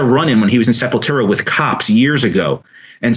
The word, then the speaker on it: Sepultura: and if you notice, I'm pronouncing the Sepultura because when I first heard of the band, I was working at Tower Records in the Village, and my boy was Brazilian, and he was the one that hyped me up to it, and that was how he pronounced it.